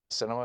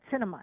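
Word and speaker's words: Sinema: right inside christmas cinema cinema is her name that's right cinema is pronounced like the cinema that's right I mean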